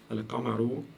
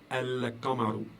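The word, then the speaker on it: القمر: Alors, si vous écoutez, si vous faites attention à la manière dont je prononce les choses, j'ai dit Al-Qamaru. Al-Qamaru. Donc, le lam ici s'entend très très bien.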